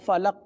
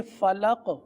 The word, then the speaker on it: فلق: ادائیگی کروا دیتے ہیں، جیسے آپ نے فلق وقف میں پڑھنا ہے صحیح۔ تو اس کی انفرادی مشق یوں کر لیجئے، لام قاف زبر لق، آپ میرے ساتھ پڑھ